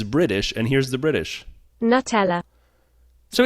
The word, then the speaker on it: Nutella: Nutella versus Nutella yeah it's Nutella it's made out of nuts but it's Nutella is the way it's pronounced and so it's going to be Nutella it has to be